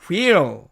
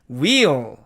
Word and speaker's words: wheel: 사전식 발음은 wheel 이렇게 나와 있는데 실제로는 이 H가 탈락되기 때문에 wheel 이렇게 발음이 됩니다.